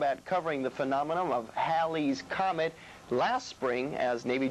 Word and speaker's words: Halley: Halley's, Halley's, or Halley's? Well, you got it right the last time, Janine. Just remember, it rhymes with pal and sal.